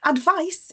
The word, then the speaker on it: advice: Advice is something that you give. If somebody is asking you for guidance, you give them advice with a letter C, a soft C, so it makes a S sound.